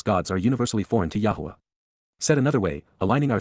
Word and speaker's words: Yahowah: To know Yahwa is to respect him. To understand Yahwa is to rever him. Yahwa. Yahwa. The proper pronunciation of the name of Eloha. God as directed in his Torah teaching God Elohim of the